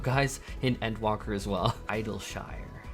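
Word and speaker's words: Idyllshire: Idleshire. Like Yorkshire puddings.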